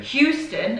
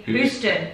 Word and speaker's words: Houston: to come to me houston houston it's wrong isn't it it's it's i don't know we say houston and it's meant to be houston houston texas houston texas